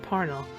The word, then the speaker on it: Parnell: further, in her memoir, Katharine sighed at all the people who said "Par-nell" over "Parnel" as Charles said "Parnel".